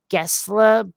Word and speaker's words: Per Gessle: player pair you know I want to say his last name is actually Gessler but we would probably pronounce it Gessle based on how it's spelled but per Gessle a--